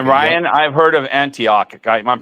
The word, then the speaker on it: Antioch: And Okay, Ryan, I've heard of Antioch. I'm pronouncing it right because I know how to say it.